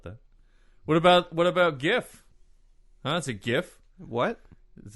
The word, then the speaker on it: GIF: interface file it's wrong I'm going with the hard G gif I know it's hard